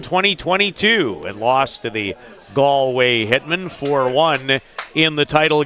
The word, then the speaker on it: Galway: It's Galway, not Gallway. Galway. Galway. The proper Yes. Irish and Newfoundland pronunciation.